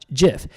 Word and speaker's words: GIF: the for our side jiff the the the creator of the jiff said he wants it to be pronounced like the peanutbutter jiff I don't know if